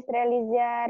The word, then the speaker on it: Strelitzia: Untuk yang perbungaan kan Strelitzia itu ada Strelitzia regina itu Coba perbungaan Angel bacanya benar-benar. Nanti menuliskannya jadi salah. Strelitzia. Ada T-nya di situ.